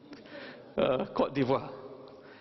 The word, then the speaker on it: Côte d'Ivoire: Côte d'Ivoire. Kelantanese pronounce rosak lah.